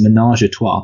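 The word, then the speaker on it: ménage à trois: mean yeah oh sorry I'm gonna have to teach how to pronounce something that it's a it's a menage tois but not that's it I thought it sounded wrong menage tois and compared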